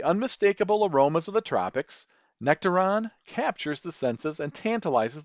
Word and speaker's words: Nectaron: Though you might hear me mispronounce Nectaron as nectarone due to my Midwest accent, it might seem to take its name from the nectarine.